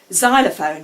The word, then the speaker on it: xylophone: Xylophone begins with X, but in fact that has a Z sound at the beginning of.